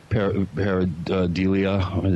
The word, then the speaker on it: pareidolia: I thought maybe, like we discussed earlier, it was pareidolia. Is that how you say it, Michael? Pareidolia? Mm-hmm. Yeah.